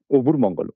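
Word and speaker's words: Öbür Mongol: Yeah, the region I came from is Southern Mongolia because the authentic Mongolian pronunciation literally would be Obur Mongol.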